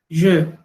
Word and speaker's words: je: Porque el pronombre, esa E, es una E de sonido cerrado, que es el sonido que no existe en español. Yo sería je.